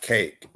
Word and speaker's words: cache: Cache means cake. Oh, it's cake. It's pronounced cake.